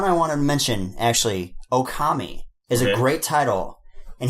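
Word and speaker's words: 大神: So like, I think it's Ookami means wolf, and then Okami means God.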